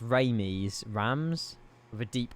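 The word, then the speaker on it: Reims: It's apparently pronounced something like how a French person would say rinse.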